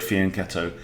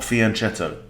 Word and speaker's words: fianchetto: people mispronounced that word it's an italian word fianchetto and in italian ch makes a k sound right it's not fianchetto right so there you